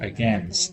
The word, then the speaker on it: against: Same thing happens in the word against. In against, English, against.